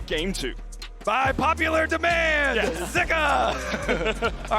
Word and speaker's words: Zika: and it was pronounced zuka on the LPL English broadcast but we have seen some people saying that in Chinese actually pronounced more with an i zika so I think for